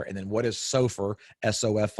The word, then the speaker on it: SOFR: you say it LIBOR and then what is Sofer sof r and the LIBOR is Li Bo